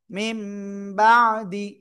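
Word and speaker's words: مِنۢ بَعْدِ: মিম নুনজের মিন এই উচ্চারণ হওয়ার কথা ছিল। এটা উচ্চারণ না হয়ে হবে। মিম বাবা বাজদি মিমবাদি মিমবাদি সবাই একসাথে জোরে বলেন মিমবাদিবা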